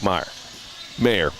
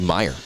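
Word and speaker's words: Maier: If you look at the completion percentage between McLeod Bethel Thompson and Jake Mayer. Jake Mayer was 64.7. Yeah, that's his problem. It should be Meyer. Like Ryan Meyer.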